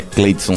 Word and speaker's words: Cleydson: em relação à nutrição, que é Cleidson, que se escreve CLEYDSON, que é difícil demais meu nome.